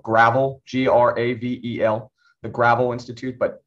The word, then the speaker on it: Gravel: It's spelled Gravel, G-R-A-V-E-L, the Gravel Institute, but it's pronounced Gravel.